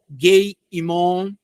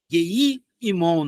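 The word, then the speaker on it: גיא הינום: Gei-Imon, Gei-Imon, na verdade, na pronúncia mais próxima.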